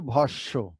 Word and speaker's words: ভস্ম: এরকম আরো উদাহরণ আমরা দেই, যেমন আমরা লিখছি ভ দন্তস্ব ম, ভস্ম, কিন্তু আমরা বলছি কিন্তু ভস্য।